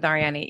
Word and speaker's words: Arianny: right yeah spanish okay cool we're going with ariani yeah so i would love to know i